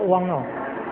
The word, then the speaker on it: 汪: 国语也是念作汪这个国语念作台语